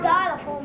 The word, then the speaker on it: xylophone: The word xylophone begins with an X. Pronounce the X like a Z.